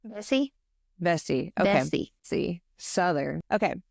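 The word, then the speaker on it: Vesey: name I don't want to say it wrong vessie vessie okay vessie Southern okay so Denmark vessie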